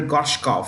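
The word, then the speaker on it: Gorshkov: the world okay um the V is pronounced with an F fair so which countries frigate Admiral goshkov successfully testified a certain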